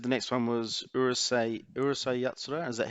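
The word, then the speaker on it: Urusei Yatsura: now you said the next one was urusai urusai yatsura is that how you say it yeah yeah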